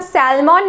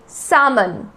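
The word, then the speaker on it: salmon: Second is सामन, एक fish का नाम है, इसको हम सैल्मन नहीं बोलेंगे या सालमन नहीं बोलेंगे, this will be सामन, सामन।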